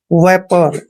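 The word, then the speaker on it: vapour: ओ यू आर दोस्तों वी का उच्चारण व करते हैं ए को एक की मात्रा पढ़ते हैं और पी को हमने प पढ़ना है ओ यू यहां पर साइलेंट रहेंगे आर को र पढ़ते हैं आर से पहले जब भी ओ यू आता है मैक्सिमम वह साइलेंट रहते हैं वेपर वेपर मींस होता है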